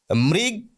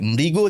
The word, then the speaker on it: মৃগ: বিদ্যাসাগর মহাশয় জানতেন তৃণ এই শব্দটিকে কেউ যেন তৃণ উচ্চারণ না করে, মৃগ কেউ যেন না বলে, মৃগ যেন বলে, অর্থাৎ শেষে ও উচ্চারণ করতে হবে।